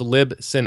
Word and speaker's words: Libsyn: When it comes to the software like that, I'm using Libsyn. And so I'm Is using that how you say it? Libsyn, yeah, it stands for Liberated Syndication. So it's Libsyn, Libsyn.